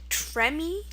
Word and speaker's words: tremie: Now this is pronounced tremie. Tremie. It seems like a simple word, and it does actually use the French rules when we look at it a little closer. Like I said, it's French from Latin, and pretty